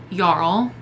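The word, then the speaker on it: jarl: one king and so the yl I believe is how you pronounce it it's j a r l is like the I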